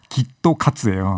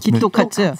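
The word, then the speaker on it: きっと勝つ: 그러니까 뭐 예를 들어서 일본어로 꼭 이긴다라는 꼭 이긴다. 그 발음이 기토카츠예요. 기토카츠.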